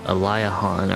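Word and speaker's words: Aliahan: We need to go with our Chimera Wing back to Alahhan. Yep. Yep. Elihan or I call it Ailahan. I never I've always pronounced it that way.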